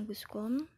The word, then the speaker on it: Auguste Comte: Bacanya Auguste Comte.